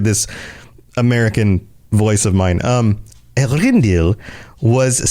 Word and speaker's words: Eärendil: At last, in the year when Eärendil, or Eärendil, I think is how they pronounce it sometimes on some of the shows. Eärendil, there we go.